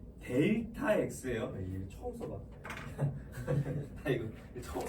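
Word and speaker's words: Δ: 그래서 자, 그 삼각형이라고 읽지 마라 얘들아. 삼각형 X 막 이렇게 읽으면 안 돼. 델타 X예요.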